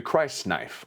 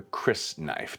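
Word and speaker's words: crysknife: The Christ knife, or the Chris knife, depending on how you want to pronounce that, is Paul's knife.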